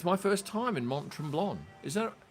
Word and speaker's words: Mont Tremblant: It's my It's my first time in Mont Trlon. Is that how you say it? I think it is. You don't say the T at the end.